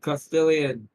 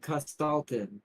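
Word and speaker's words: Kostaltyn: So, Castellian. Oh, he pronounces it Costalin.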